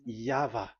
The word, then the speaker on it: Yahvah: Pronunciation is equal V. It is V. Y H V H. So it is YAHVAH.